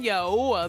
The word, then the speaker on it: Yahweh: Pronounced Yahoo. Ah, Yahwa. He says, "Tell them Yahweh, the Elohim of your fathers, has sent you.